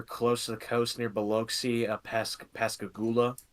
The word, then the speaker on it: Biloxi: You say it Biloxi, that's how you say Biloxi, it.